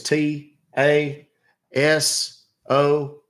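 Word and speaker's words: Tasohl: name is y last name is t a s o h l pronounced taso all right sir help me with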